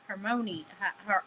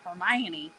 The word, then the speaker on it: Hermione: similar in my head every time I read it I was like Hermon herion like I did not that hermion there's syllables in there that letters do not account for okay I'm just telling